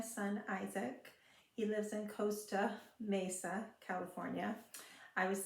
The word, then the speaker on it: Costa Mesa: was saying it wrong I was saying Costa Mesa and he kept correcting me because it's not phonetic it's Costa it should be Costa if it's following phonics rules but anyway that's the